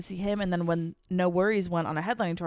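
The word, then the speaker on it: NxWorries: So, anyways, we saw No Worries. They are a like hip-hop R&B duo. It's Anderson Pack and Knowledge, the producer. Um, and it's spelled NX Worries, like all one word.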